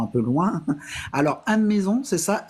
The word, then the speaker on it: Meson: dans un temps un peu loin alors un maison c'est ça m e s o n ouais ou et ça se prononce on mon ouais mais ça sécrit avec